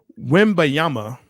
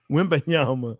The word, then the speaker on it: Wembanyama: Wembanyama. Hey, that sounds good to me. Wembanyama.